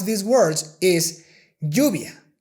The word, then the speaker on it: lluvia: The correct way to pronounce these sounds is lluvia, ella, parrillada, haya.